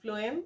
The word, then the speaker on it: phloem: And if for to how to remember that, because food starts from pronunciation F, and though the spelling of the phloem is PH, but the pronunciation is F.